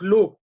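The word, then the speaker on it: לו: Donc, l'eau, ça s'écrit Lamed Vav pour lui, et on le lit l'eau Lamed Aleph, la négation.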